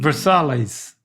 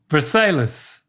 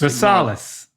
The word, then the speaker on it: Versailles: You fell into the trap, Dad. The hard L trap. This is This is French. Um so, the L's Versailles The L's are kind of silent.